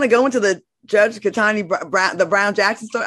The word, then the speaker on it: Ketanji: Ketanji, my bad.